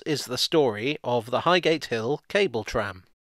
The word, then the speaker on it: Highgate: highgate or highgate as the tube announcer pronounces it is an upmarket suburb